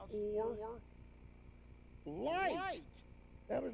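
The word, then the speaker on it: אור: interesting it's the same they're spelled different but they're the same what do they call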